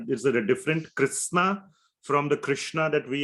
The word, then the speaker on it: Krishna: in the Sanskrit language so Krishna means your the tip of the tongue has to touch the top of your sort of mouth that's how you one